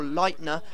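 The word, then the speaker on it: Leitner: well but we took the lead it was Lightner from the edge of the box or Lightner as I've been told to say his name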